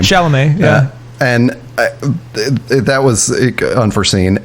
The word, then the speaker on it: Chalamet: One is that now I have a terrible crush on Pauline Chalamet, or however you pronounce that last name. Chalamet, yeah.